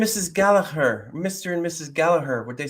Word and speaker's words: Gallagher: Irish people would be Galla her like the gallaer rug gallaer rugby Championship here in Ireland um on commentators if it's an English commentator they'll go Gallagher but that's not true so I think that's